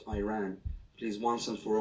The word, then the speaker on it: Iran: the Iranian people but you're pronouncing a country's name wrong our country is named Iran not Iran it is once and